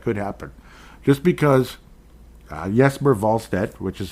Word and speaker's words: Wallstedt: Just because Jesper Wallstedt, which is how we'd like to pronounce it, I'm pretty sure that's how you're supposed to.